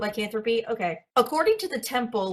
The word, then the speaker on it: lycanthropy: According to the temple, lycanthropy. Am I going to pronounce I'm going to butcher this. That was right. That was correct. Lyanthropy.